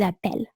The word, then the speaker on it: appellent: So we double to have the E in front of a double consonant, therefore pronounce E. Ils appellent.